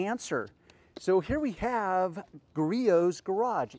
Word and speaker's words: Griot's: so here we have griot's garage yes that's pronounced griot's despite the endless ways you'll hear it so here we have